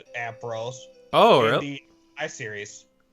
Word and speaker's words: Ampharos: official pronunciation. Yeah, it's Ampharos.